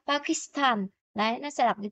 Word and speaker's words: 파키스탄: Ở đây người ta không đọc là Pakistan, cái quá là cái chữ S trong tiếng Anh đưa qua thường là chữ sư của tiếng Hàn, nhưng mà nó đọc sẽ nhanh đó, Pakistan.